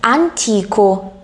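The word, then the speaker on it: antico: 그러면 안티코, 이 형용사 옛날의 라는 형용사 안티코는 강세가 이탈리아 단어에서 강세가 어디에 있어요? T에 있어요. 안티코, 안티카.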